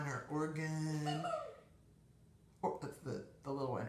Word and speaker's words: Oregon: And for those of you that don't live on the West Coast or even the Midwest, Oregon is pronounced Oregon, not Oregon or Oregon.